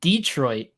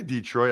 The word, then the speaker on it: Detroit: to them is that the emphasis on the second syllable like Detroit not Detroit you know what I mean Detroit whether you say whether you say Detroit or Detroit it's Detroit that is where the emphasis should be placed the bills by the